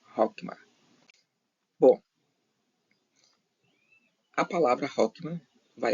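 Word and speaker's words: חכמה: a última da esquerda, é Het, que se pronuncia Hokmah.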